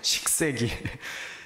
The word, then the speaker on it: 식세기: 발음을 잘 하셔야 돼요. 식세기.